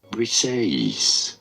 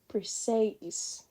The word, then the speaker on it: Briseis: Let's hear the pronunciation. Briseis. Briseis.